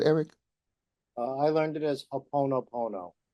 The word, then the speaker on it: Ho'oponopono: I learned it as Ho'oponopono. Ho'oponopono.